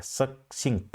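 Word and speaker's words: succinct: है संक्षिप्त होता है लेकिन प्रोनंसिएशन को ध्यान में रखिएगा और स्पेलिंग को ध्यान में रखिएगा क्योंकि इसी तरह के वर्ड को एग्जाम में बार-बार दिया जाता है सकसिंक्ट होता है ये और ट्रेंच का मीनिंग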